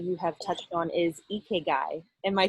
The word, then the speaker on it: Ikigai: I often find it amusing because it's not pronounced Ikigai, like you went on Tinder and you saw an Ikigai, so swipe left. It's not pronounced Ikigai. It's pronounced with a smile, so Ikigai.